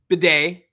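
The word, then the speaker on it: Badie: in their pronunciation guide pronouncing it b d b a yde you know phonetically the Hooked on Phonics thing all right that's because that's how he said his name it's recent that he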